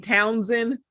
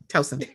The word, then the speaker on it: Towson: It always gets me when people not from Maryland saying Townsend, and it's like there's one in Towson. Towson.